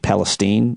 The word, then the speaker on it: Palestine: I guess that's how it's pronounced, Palestine, according to the people in Ohio.